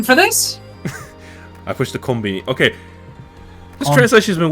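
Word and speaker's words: コンビニ: this the actual word comini is the actual word that's how you say it that's how you say convenience store in Japanese yeah comini so it's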